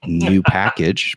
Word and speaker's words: nupkg: will tell you that the correct pronunciation of this is new package because it has the word package as part of it uh I will tell